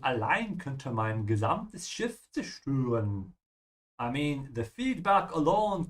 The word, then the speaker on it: zerstören: And zerstören is to destroy. Remember to pronounce the Z in German with a TS sound. Yeah, just like you say Tsunami Zia. Yeah, Tsunami Zia. Yeah, zerstören.